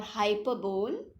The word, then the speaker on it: hyperbole: This is hyperbole or hyperbole as you pronounce, HYPERBOLE.